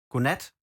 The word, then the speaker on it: godnat: We say godnat og sov godt. We spell it like this. I'll spell it for you guys. That's basically good night and sleep well. Godnat. We don't say the D.